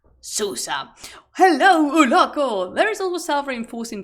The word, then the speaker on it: Susa: city of Susa and I will try it and pronounce sua in the most Spanish way I can because I can because I love the Spanish in tonation of like Susa helloo there is also